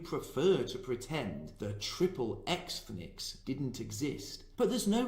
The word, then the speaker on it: Xthnics: The following is taken from an essay called Triple Xthnics, Jews in the American Porn Industry. And yes, I did pronounce that correctly. Xthnics is a play on the word ethnic and X-rated. This was written by one Dr.